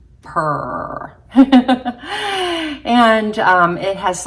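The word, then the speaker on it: Prr: shade of per and it's spelled p r r so it's like per and it has like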